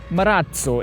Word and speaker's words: Marazzo: And by the way, you pronounce it Marazzo in a very Italian way, as Mr. Anand Mahindra himself insists that we do so, despite the word being derived from a Spanish sublanguage.